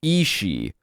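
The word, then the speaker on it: sidhe: underground world of the Isi, which is not spelled that way at all. It's a os space. Si dh e.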